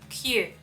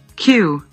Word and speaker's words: queue: Правильное произношение – Q. Да, звучит как просто буква алфавита. Q. Ну вот так читаем это слово, да. Q. Queue.